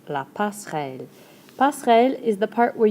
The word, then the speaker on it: passerelle: La passerelle. ...Don't get to do much with that (er) in there. So don't worry about it too much! La passerelle.